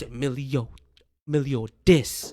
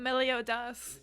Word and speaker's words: Meliodas: It's Emilio dis. Okay. Not Meliodas. Emilio dis.